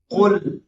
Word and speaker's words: قل: عربی ایسی نازک لفظ ہے ایک ہوتا ہے کل اور ایک ہوتا ہے قل. یہ جو قل هو اللہ ہے اس کے معنی ہوتا ہے کہو. کل کے معنی ہوتا ہے کھاؤ.